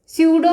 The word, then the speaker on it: pseudo: लिखिए, such reactions are known as क्या जानी जाती हैं, स्यूडो में पी साइलेंट होता है, स्यूडो यूनिमॉलिक्यूलर रिएक्शन.